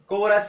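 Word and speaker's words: chorus: लेकिन सी के बाद एच आ रहा है तो उसका उच्चारण कौ भी होता है। जैसे देखिए ये अपवाद है, एक्सेप्शन जिनको आप कहते हैं। केमिस्ट सी एच है, यहाँ पे केमिस्ट है। कोरस सी एच है, कोरस है, कैरेक्टर है, यहाँ पे उसका उच्चारण क्या हो रहा है कौ हो रहा है।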